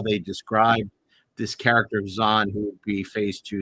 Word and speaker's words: Xon: X O N, pronounced Xon, was selected by the Vulcan Science Academy to attempt exactly that.